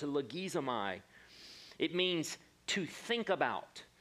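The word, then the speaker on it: λογίζομαι: It's pronounced logizomai.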